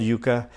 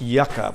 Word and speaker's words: yuca: and onion lime sauce look at the spelling why you see a yuca sometimes people spell it why you see CA I've seen that in the grocery store that's yucca which is a desert plant from the southwest you guy is is what